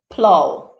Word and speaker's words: plough: one i have um plow p l o u g h plough so this gives you the o w sound at the end as well all right let's